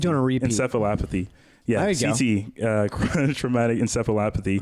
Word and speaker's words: encephalopathy: No, it's encephalopathy. Listening to it on a repeat. Encephalopathy.